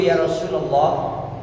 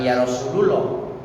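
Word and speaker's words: يا رسول الله: Abu Dzar kalau lu Ya Rasulallah Ya Rasulallah Ya Rasulallah SAW Hai kalau ada yang tidak bacanya ya Rosululloh ya Rosulullah karena yaitu tidak ada itu nasabah jangan yarosululoh jadi salah kalau bukan Santi Mengapa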